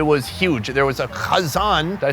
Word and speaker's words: kazan: There was a khazan. Did I say it right? Did I put enough kh? Yeah, kazan.